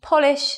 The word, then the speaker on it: polish: So although they're the same spelling, they have different sounds, and that's because of word stress.